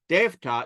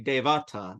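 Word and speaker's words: देवता: You'll notice I don't say devata. That's just, it's a way you pronounce it. You just say devta. You don't say devata. There's not a rule about it. It's just usage.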